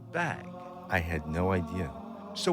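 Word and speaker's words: bague: french is spelled b-a-q-u-e it's pronounced bag i had no idea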